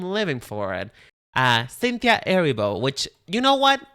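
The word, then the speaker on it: Erivo: for it uh Cynthia Aribo, which you know what? Why did nobody told me that it wasn't Rebo? I've been calling Caninta Reebo for this longest time. And it's Cinta Aribo.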